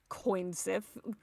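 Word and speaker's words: cù-sìth: Yeah, you would pronounce it like coin Sith.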